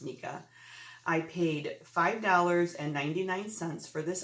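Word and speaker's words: NECA: Okay, first item that I sold was a Ralphie in bunny suit head knocker bobblehead, A Christmas Story Nika, N-E-C-A. I think it's pronounced Nika.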